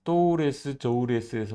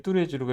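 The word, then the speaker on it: Tous les Jours: 우리 그 어떻게 말하냐면 또레스 저울에스에서 만나자 이렇게 얘기를 해요 이게 뚜레쥬르가 이게 프랑스 발음인데 이걸 못하는 거예요 그래서 그냥 영어식 발음을 그대로입니다 그래서 우리 또 우리에서 만나자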